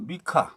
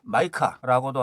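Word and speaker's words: MiCA: 여기서 미카, 마이카라고도 하는데요. 공식적으로는 미카라고 했는데 영국식 발음으로는 마이카라고 합니다. 편의상 저는 미카라고 하겠습니다.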